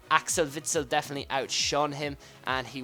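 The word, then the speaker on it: Witsel: Anyways, the first of our CDMs is in funel Axel Vitzell. Sorry, that's how you say his name. I don't know why I said witell and uh yeah, he was amazing as well.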